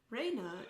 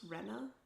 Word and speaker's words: Rena: Also forgot about Raina's name, but like it sounds like it's supposed to be pronounced Rena, but I'm just going to keep saying Raina.